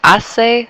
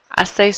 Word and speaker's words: hace: So we say hace sol. So it's like saying it is sunny. It is sunny. Hace sol. Again, notice how we don't pronounce the H?